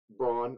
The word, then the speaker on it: Braun: But Christian Braun, I refuse to pronounce it Brown. That's not how that name's spelled.